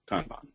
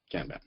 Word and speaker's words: Kanban: a bird's-eye view of Kanban and it is pronounced Kanban not gamba so with Kanban there's a couple of basic